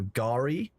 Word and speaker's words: Gari: Sorry about that, it's pronounced like Kari, but with a G, so Gari.